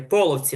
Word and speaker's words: Половці: Половці тільки половці. Наголос на перший склад.